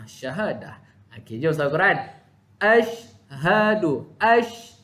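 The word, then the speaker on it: أشهد: Ashhadu. Itu cara bacaan dia. Bukan ashadu. Bukan sin tapi shin.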